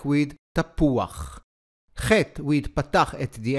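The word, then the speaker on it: תפוח: We say tapuach and not tapucha. So here is a very important rule to remember when reading Hebrew. The letter chet, when it appears at the end of a word, together with the vowel patach, does not sound as cha, but rather as ach.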